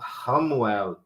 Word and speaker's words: Chamuel: O CH tem som de R. Então, Ramuel, L no final, sempre quando é L no final é El, né?